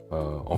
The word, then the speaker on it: 의: 4e cas et celui-là est complément différent des trois précédents. Quand I est utilisé comme particule possessif l'équivalent de du 2 en français pour montrer la position, on le prononce et e et voici les exemples.